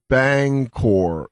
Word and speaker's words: Bangor: me feel all right I am oh it's pronounced Bangor B okay who's Chelsea Chelsea and Maine what did we say Banger M I said it wrong said Banger M that mean she likes you dude she's